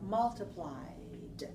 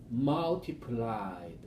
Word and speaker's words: multiplied: D at all just let your mind think just the letter Y the base form multiply and then the past form multip muled try that multiply multiplied there now you got it you want to try